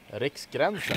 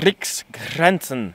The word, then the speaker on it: Riksgränsen: I don't know how to say it properly because I can't roll my R's. Riksgränsen. Riksgränsen.